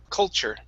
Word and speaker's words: culture: um next up is culture instead of call C culture call with an all sound it's C culture culture culture there you go